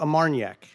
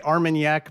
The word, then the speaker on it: Armagnac: It's called Amarniac. It's Are like you a saying it wrong? It's brandy, but No. it's it's different Oh! from Brandy, cognac. Oh. you could say Armagnac maybe.